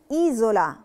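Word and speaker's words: isola: ايزولا. ايزولا ليه نطقناها ز ما نطقناهاش اس؟ علشان جي قبلها فوكالي اللي هي لترة اي، وجي وراها فوكالي تانية اللي هي لترة او، فبقت ايزولا.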